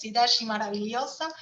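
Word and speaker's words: Cidade Maravilhosa: brazil it's called like sorry i don't speak portuguese but this is the promise more or less the pronunciation in portuguese sidashi maravilliosa the wonderful city in its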